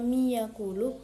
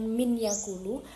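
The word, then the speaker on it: من يقول: Kenapa dibaca mi yaqulu bukan min yaqulu? Karena di sini ada nun sukun bertemu dengan ya. Ya ini merupakan huruf dari ghunnah tadi, sehingga harus di masukkan. Jadi, bacanya bukan min yaqulu, bukan, tapi mi yaqulu.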